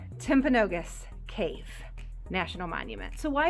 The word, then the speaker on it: Timpanogos: i have to ask how do you say it timpanogos i keep wanting to say tip a canoe yeah so tim pinogas there we go timpanogos cave national monument so